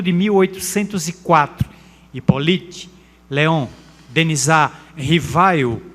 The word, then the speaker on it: Rivail: 1804, Hippolyte Léon Denisard Rivail, ou Rivail, ou Rivel, depende muito das pronúncias, que existiam fenômenos curiosos, que aconteciam em determinados salões, e se ele não tinha interesse de examinar.